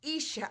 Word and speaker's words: Isha: the suffix of Isha I don't care if it's e-e-e-i-i-e-e or just I if your name is pronounced Isha I want you to